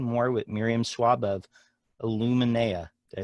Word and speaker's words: Illuminea: to be talking more with Miriam Schwab of Illuminea.